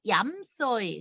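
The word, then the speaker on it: 飲水: 그래서 얌차 내지는 물을 마신다 그러면 물 숫자는 소이로 발음이 납니다. 소이, 얌소이.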